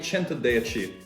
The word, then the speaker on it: Centodieci: it's overrated next up we've got the bugatti chanter they achieve and yes that is how you pronounce it i've heard americans pronounce it and